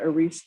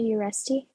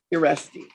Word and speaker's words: Uresti: Warren, I'm moving you forward with Ariste. I believe I'm hopefully saying that correctly. Ma'am, how do you say it? Hello, and it's Uresti. Uresti. Okay.